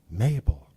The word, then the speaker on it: Mabel: is your name so she says Mabel I said you know that rhymes with table but she smiled and